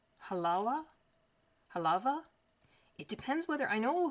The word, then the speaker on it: Halawa: think in Hawaiian it's Halawa. Halawa? One of those pronunciations, I'm not sure which. The W is pronounced as a V, although this is also